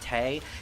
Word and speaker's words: Tewi: pronoun tewi is pronounced Tay yeah that's what I've heard apparently that's the Japanese pronunciation and a lot of